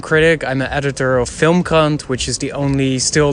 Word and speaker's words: FilmKrant: It's very careful about pronouncing the name of the publication there, because in Could have easily be film CUNT, yes, for sure, yeah.